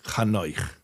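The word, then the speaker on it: Chanoch: So don't say Enoch, say Kano.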